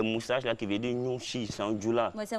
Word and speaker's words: Nouchi: Voilà, maintenant, le mot Nouchi, là, c'est sa bonne prononciation qui commence, on dit Nouchi.